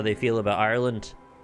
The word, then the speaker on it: Ireland: say that they say Ireland they just kind of roll over the second syllable so I've definitely tried